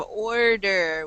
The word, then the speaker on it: order: Ahmed, I want to hear your pronunciation again of order with the English R sound. No tongue.